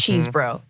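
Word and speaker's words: Chesebro: then five is Kenneth chesbro cheese bro some sort of bro there had gotta be if you're gonna say it say it right it's cheese bro yeah that's it well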